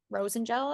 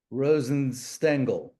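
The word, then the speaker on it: Rosenstengel: under judge Rosen or Rosen gel am I pronouncing that name right Rosen stangle Rosen stangle thanks so there are six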